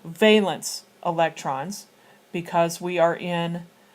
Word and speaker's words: valence: you're looking at eight balance eight valence electrons I apologize with the balance I was told that's how it was pronounced and now the book is pronouncing it differently so valence electrons because we are